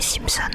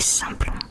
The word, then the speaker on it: Simplon: si je prononce bien, moi dans ma tête c'était Simpson l'arrêt, mais c'est Simplon, Simplon, à une lettre c'est Simpson.